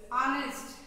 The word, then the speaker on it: honest: Here, honest. Actually, here, this is a noun. This is a word. It starts with the H. This starts with the H. But here, the H is silent.